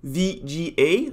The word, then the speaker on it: Vigier: So my name is Vigier. I'm French. So the closest way to pronounce my name would be to say VGA, like those blue VGA cables you put into your computer when you want to project onto another screen, for instance.